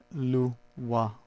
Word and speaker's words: Loire: Loire Valley. Now my French isn't good, like a professor say, but that's how it's pronounced, when you break it down phonetically.